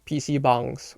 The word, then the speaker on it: PC bang: went to places called PC Bangs which for those who are wondering what that is. No, it's it's not me mispronouncing the word. That's how it's supposed to be pronounced.